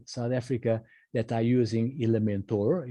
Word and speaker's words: Elementor: Africa that are using Elementor Elementor I'm pronouncing the American way even though it is spelled elementa elementa era but Elementor